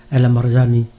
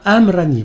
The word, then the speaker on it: El Amrani: d'écouter le professeur Aziz alamani ouais Amrani bon ou se prononce avec le R pour que ça fasse couleur locale tout à fait et